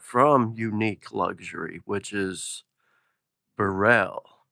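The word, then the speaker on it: Beril: I think it's pronounced Burell. B E R I L.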